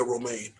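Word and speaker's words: Romijn: got rebecca ramirez famous she's not right rebecca romain romain not r-o-m-a-n no but after pronunciation roman fair enough rebecca remix rebecca romain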